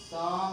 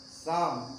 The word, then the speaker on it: Psalm: This word pronounced as Psalm of Life. P and L. P and L are silent.